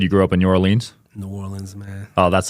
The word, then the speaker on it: New Orleans: You said you grew up in New Orleans?